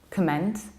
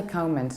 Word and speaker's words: comment: Comment, comment, comment, comment. And this is an example of a word where we don't round it. We don't say comment, no. We say comment in American accent with a comment, or simply comment, comment.